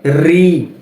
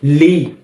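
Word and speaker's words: ঋ: এর পরের বর্ণটি হচ্ছে রি, রি, রি। এই বর্ণটাকে অনেকে বলে লি, লি বলা যাবে? এই বর্ণটার সঠিক উচ্চারণ হচ্ছে রি, রি, কি রি।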